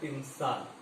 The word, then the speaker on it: تمثال: شمشیر جو تھی رنگ میں الماس کی تمثال، لفظ ہے تمثال، اس کے صحیح تلفظ ہے تمثال.